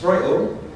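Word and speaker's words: Strøget: What looks like Stroget, pronounced Stroilo, was named one of the 7 urban wonders of the world.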